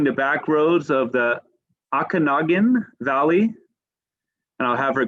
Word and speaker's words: Okanagan: And I feel, Okanagan is how it's said, by the way.